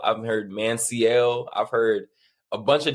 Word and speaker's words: Manciel: multiple different people me and my family we pronounce it Manel like M A an and then s e l l like Manel uh I've heard man seal I've heard Manel I've heard a bunch of different variations but